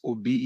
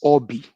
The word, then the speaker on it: Obi: The name is not pronounced Obi, it's Obi.